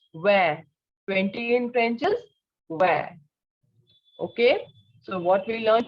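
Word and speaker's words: vingt: Again, the sound of I-N is eh. So it is where. And the sound of T will not be pronounced. So it is where. 20 in French is where.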